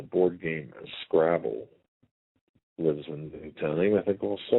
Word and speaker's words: Newtown: Newtown, sorry. Newtown. We have to make sure we pronounce that right.